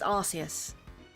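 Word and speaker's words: Arceus: don't think I have archus ex yet oh it's not archus it's arus I I my God I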